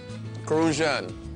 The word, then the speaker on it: Crucian: Crucian. You got to say it like that, Crucian.